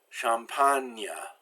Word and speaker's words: champagne: When G is followed by N, it's pronounced like the N-I in onion, kind of a strange sound. Magnifique, champagne.